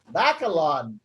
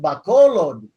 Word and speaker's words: Bacolod: experts they read it they read it like english and so they'll say back a lot back a lot yeah go up the back like back a lot and then it's pronounced bacolod but you know if